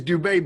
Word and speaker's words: Dube: Because your name is Dube, but it's spelt Doobie.